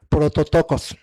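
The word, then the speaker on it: πρωτότοκος: Y nos se nos informó que la palabra primogénito en griego se pronuncia prototocos.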